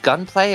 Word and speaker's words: Gunpla: Is it pronounced gunplay or gunpl? Gunpla.